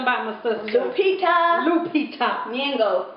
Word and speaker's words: Nyong'o: Nyong'o. That's how you say it.